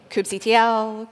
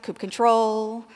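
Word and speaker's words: kubectl: to pronounce Cube CTL it could be Cube CTL Cube control Cube cuddle kuy cuddle that last one's my favorite um you got to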